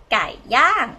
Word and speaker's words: ไก่ย่าง: This is a y sound, a and ng together with this tone mark, falling tone. Because your yak is low class consonant, we get this stop on top, you become falling tone.